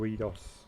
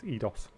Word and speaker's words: Eidos: I think there's always been a debate about how you pronounce Eidos or Eidos. I tend to say Eidos because it's like kaleidoscope, but some people say it's Eidos.